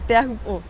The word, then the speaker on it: Teahupo'o: What's the right pronunciation? You said it well, Teahupo'o.